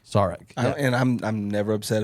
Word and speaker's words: Zarek: No, the real pronunciation is Zarek. Zarek.